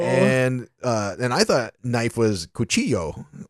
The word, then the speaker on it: cuchillo: And I thought knife was cuchillo, like C-U-C-H-I-L-L-O, cuchillo.